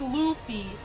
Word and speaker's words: Luffy: It's Luffy.